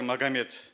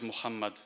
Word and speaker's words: Мухаммад: мы одобряем это например раньше в русскоговорящих семьи имя пророка соллаллаху а сталин звучало как магомед позднее они стали использовать форму мухаммед но теперь повсюду все больше стали говорить muhammad даже есть стремление правильно